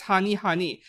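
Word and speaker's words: Honey²: Yeah, Honey Square is pronounced as Honey Honey.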